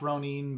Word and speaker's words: ronin: you haven't pledged yourself uh i mean it's pronounced ronin but you can call whatever although 47 ronin